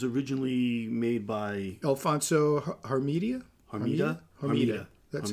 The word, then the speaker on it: Hermida: Hermida. That's how you pronounce it.